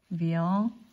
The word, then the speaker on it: viens: Viens, soyons heureux. Viens, soyons heureux. 내가 늘 강조하듯이 viens은 n 하지 않고 viens, 엉 쪽에 발음해요.